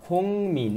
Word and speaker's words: 국민: 라 국민연금을 가입했어요 भनेको छ साथीहरु यसरी भनेको है तपाईलाई थाहा छ 국민 यो ग र म आए भने फाछिमको ग को उच्चारण ङ हुन्छ के 국민 भन्दैन है 국민연금 भनेको छ नागरिक